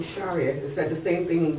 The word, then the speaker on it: Sharia: that the same okay because I know they pronounce it Sharia all the time instead of Shar yeah Shar is the yeah the correct pronunciation yeah the Arabic what's